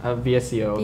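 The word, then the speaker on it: VSCO: how can you edit on I used the viscose know how it's pronounced vseo yes yeah yeah I just yeah and then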